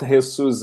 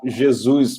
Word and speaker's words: Jesus: yeah i mean it's it's almost right i mean because it's not jesus in spanish but it's jesus portuguese but it's all right unfortunately i grew